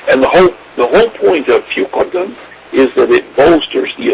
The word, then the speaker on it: Fucoidan: Fucoidan, F-U, and it's pronounced C-O-Y, like koi, and D-A-N is pronounced like D-O-N, Fucoidan.